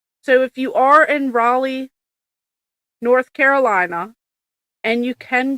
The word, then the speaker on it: Raleigh: He um, he told me how to say it's not Riley, North Carolina. It's Raleigh.